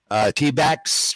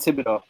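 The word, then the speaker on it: Thibodeaux: The Giants rookie, T-backs, right? Yeah, Kayvon Thibodeau. Thibodeau. I got his name wrong.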